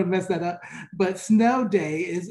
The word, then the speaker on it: Sneaux: So here at Loyola, New Orleans, we do a day, it's called Snow Day, and it's spelled SNEAUX, and I had to write that down because I didn't want to mess that up. But Snow Day is its occasion, our take on this Caucasian spelling.